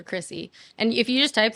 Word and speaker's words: Kryssy: people look it up it's k r y SS y for Chrissy and if you just type that in the rest come up it's just Chrissy music okay so